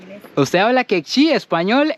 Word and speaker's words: Q'eqchi': esta zona de Lanquín, ¿cómo es que se pronuncia, señorita? Quechí. Quechí.